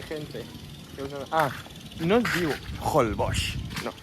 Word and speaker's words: Holbox: Ah, no es diu Holbox, no, Holbox. No, es diu Holbox. O sigui, els autòctons li diuen Holbox. I si vostè busca a la Wikipedia la fonètica de la paraula, també es pronuncia Holbox.